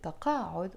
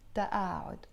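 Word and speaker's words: تقاعد: And we don't pronounce it taqa'ud, although in standard Arabic they pronounce it taqa'ud. In the Lebanese dialect we pronounce the qaf as a hamza sound, and we will pronounce it ta'a'ud.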